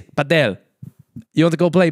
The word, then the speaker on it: padel: Is that how you say it, apparently? Paddle. Oh. But it's not paddle, though, is it? It's not paddle. If I would type paddle, I would type P-A-D-D-L-E. I think it's, because it started in Spain, right?